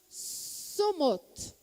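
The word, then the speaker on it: צומות: E no plural de jejum, é jejuns, né? Então, nós falamos somot.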